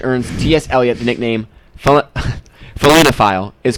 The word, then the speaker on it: felinophile: I guess maybe the better pronunciation is felinophile, but that's kind of weird to say.